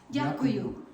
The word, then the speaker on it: Дякую: Дякую.